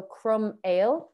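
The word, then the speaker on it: croiméal: all uh we've got cromell yes so that's mustache yeah and the way we pronounce it is crumb like a crumb of bread and ale like beer yes so crumb ale yeah anawa and then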